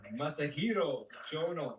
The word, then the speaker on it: Masahiro Chono: I've been saying his name wrong. Masahiro Chono.